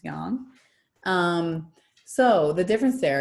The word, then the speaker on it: yang: one is young young everybody thinks it's pronounced yang it's not it's young um so the difference